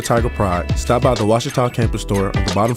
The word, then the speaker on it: Ouachita: Back in Texas, everybody pronounces it Wichita, but really, it's Washita. Washita.